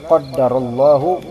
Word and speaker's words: qaddarallahu: Qaddarallahu, ya, dengan ada tasydid untuk dal. Qaddarallahu wa ma syaa'a fa'al, kayak gitu. Jadi bacanya juga harus benar sebenarnya. Jangan kita tasdidkan kemudian roknya kita dhammahkan. Banyak yang kayak gitu teman-teman. Qaddarullah, enggak bisa itu.